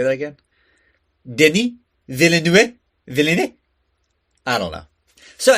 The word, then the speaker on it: Denis Villeneuve: I mean, the first time I heard it, I was like, it's Denis Villeneuve. But no, it's Denis Villeneuve.